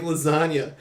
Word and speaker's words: lasagna: move in silence like lasagna it's because the G and lasagna is silent silent and I never